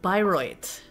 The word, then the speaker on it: Bayreuth: It's German and it's pronounced Bayreuth.